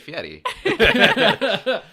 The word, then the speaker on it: Fieri: Maybe that is how you say his name. No, you say it, Fieri. Fieri.